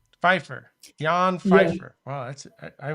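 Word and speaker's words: Pfeifer: Oh, Feifer. Feifer. Yan Feifer. Wow, that's I was able to do that. I can't pronunciate like my wife is Colombian.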